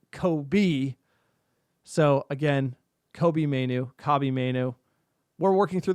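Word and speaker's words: Kobbie Mainoo: time to put respect on Kobe's name It's Kobe, like Robbie, not Kobe. So again, Kobe Mainu, Kobe Mainu. We're working through the pronunciation.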